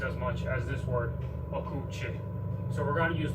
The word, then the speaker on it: okuwçy: And this letter here, C cedilla, it's pronounced ch. It's not pronounced s like in French. It's pronounced ch, like the CH in English. And this ending, okuchi, just means the one who does.